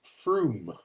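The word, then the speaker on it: Frome: It's pronounced Froome. So it's got a double O sound in the middle of it.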